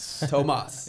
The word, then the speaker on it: Tomas: in my name okay my name is thomas tomas yeah i'm half puerto rican believe it or